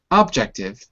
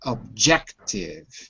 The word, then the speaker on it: objective: good objective objective good notice the stress is on the second syllable not objective but objective second syllable objective good